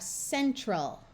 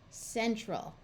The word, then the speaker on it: central: Now, you might think it should be central, but that is hard to say, and this is the accented syllable, so this A sound schwas and becomes a muffled sound, which happens a lot